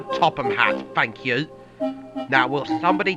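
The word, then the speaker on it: Topham Hatt: That's right, and it's pronounced the Topham Hat, thank you.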